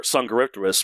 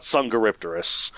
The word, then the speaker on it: Dsungaripterus: A pterosaur that looks incredibly difficult to pronounce until you realize that the D is silent. That's actually quite easy, I think. Like the D, P in pterosaur. Yeah, the D and the P are both silent, so it's Dsungaripterus.